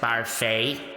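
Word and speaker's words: Barfée: It's pronounced Barfey.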